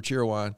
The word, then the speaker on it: Cheerwine: Didn't know how to say it when I got here. I was like, Cheerwine? It's Cheerwine. Cheerwine. Yeah. You got to say it very quick.